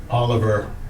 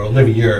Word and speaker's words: Olivier: did back then because Michael Oliver or Olivier is how you pronounce it built this barn